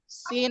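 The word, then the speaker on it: سين: গুড়া খেয়াল করি সিন শব্দ হবে না শব্দ হলে সিন হয়ে যাবে সিন একবারে পাতলা সিন পরে দেখি শিন জিহ্বার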